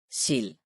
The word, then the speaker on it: sild: Let's start with the LD combination. Listen how the word is pronounced with the silent D. Bold. Sild. Ild. Kold.